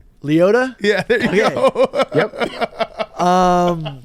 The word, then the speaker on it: Liotta: his name right Rihanna rest in peace Ray Liana Leota yeah there you go um they didn't say